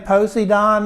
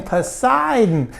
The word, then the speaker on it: Poseidon: you tell me who that man Posey Don is and I said postie Don who in the world are you talking about I said spell it for me p e-o-s-e-i-d-o-n I said Oh you mean Poseidon he said yeah that's